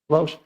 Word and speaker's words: Lausch: É assim que pronuncia, Fernanda? Lausch.